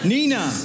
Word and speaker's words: Nenagh: Nenagh. I hope so. Nenagh. Is that the right way to say it? Yeah, Nenagh, yeah.